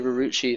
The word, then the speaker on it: Rurucci: And for you guys wondering why I say Rurucci, that's actually how Rurucci told us to say it in his Ask FM a while back.